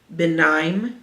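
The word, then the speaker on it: Benaim: you say his name B Ben Nim benim it's b n a i I am and if I remember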